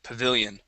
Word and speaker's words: pavilion: good and Pavilion okay Pavilion with the stress on that middle eye Pavilion Pavilion excellent all right